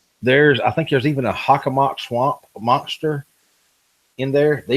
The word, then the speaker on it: Hockomock: It's the Hockomock. No, Hockomock Swamp. Yep. I thought that's how you pronounce it.